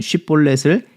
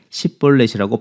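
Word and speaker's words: שיבולת: 에브라임 사람들은 쉽볼렛을 십볼렛이라고 발음할 수밖에 없어서 그곳에서 에브라임 사람인 것이 발각되어 어이없이 죽임을 당하게 되었습니다.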